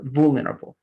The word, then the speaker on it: vulnerable: more related again to stress that is going to be mostly in the first part like vul vulnerable all right vulnerable so the very first part is more like stressed exactly vulner able the